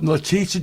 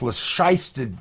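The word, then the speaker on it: Letitia: No, Leticia James. Lyster James. Say it right. It's Lashy James.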